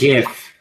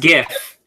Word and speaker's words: GIF: I think they're pronounced GIF. It's pronounced GIF. It's graphic. It's graphical. It's graphical. It is not GIF. There is no J.